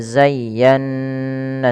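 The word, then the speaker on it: زيّنّا: Cara membacanya yang pertama, ya-nya dilembutkan, zayya, baru ditekan lagi ke nun.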